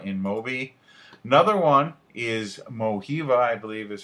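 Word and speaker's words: Mojiva: you check out in moby another one is mohiva i believe is how you pronounce it it's m-o-j-i-v-a they have different mobile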